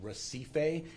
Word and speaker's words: Recife: I will pronounce what I believe it's the proper pronunciation, which is Recife. It's spelled like recipe, but with an F instead of a P, R-E-C-I-F-E way, South San Jose.